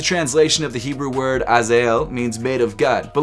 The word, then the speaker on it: Azael: The name of this shoe is pronounced Azael.